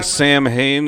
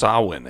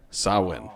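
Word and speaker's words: Samhain: you shouldn't me so yeah mitch you're saying sam hayne it's pronounced sauhan actually sawin yeah oh we'll get to that in a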